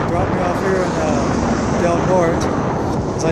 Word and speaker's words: Del Norte: So these ladies are going to give me a ride to Del Norte.